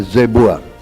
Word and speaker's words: Zebua: Ejaannya? Ya, Jebua. Zebua.